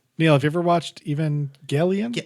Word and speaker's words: Evangelion: Neil, have you ever watched Evangelion? Yep, hard G.